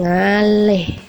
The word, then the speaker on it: ngalih: Sworo miring Wow cone ngalih ngalih tulisannya tapi kita membacanya seperti e wong kon ngaleh seperti itu dan yang terakhir yaitu